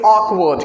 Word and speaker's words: awkward: तो WAKWARD इसको बोलेंगे ऑकवर्ड। क्या बोलेंगे? awkward का मतलब होता है अटपटा। क्या होता है awkward का मतलब? इसको पहले हम लोग सही से बोलिए, इसको हम लोग प्रोनाउंस करेंगे awkward।